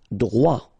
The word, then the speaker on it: droit: Droit. So final T, not pronounced.